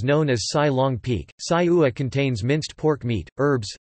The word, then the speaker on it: Sai ua: Sai ua, Thai, siksa pronounced sajua, or Northern Thai sausage or Chiang Mai sausage is a grilled pork sausage from northern Thailand and northeastern Burma.